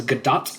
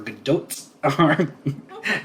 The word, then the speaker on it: Gadot: consensus to be honest i've seen her pronounce it differently but almost always with a hard t she either says she either says gadot or gadot yeah it's like wait what